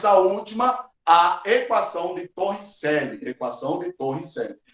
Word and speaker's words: Torricelli: Pronúncia Torricelli, né, os italianos.